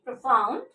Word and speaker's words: profound: Profound. And one hyphen, that means two syllable, dissyllable. How to pronounce it? Sound, schwa sound. Ow. This one diphthong, na, da. And stress mark over f.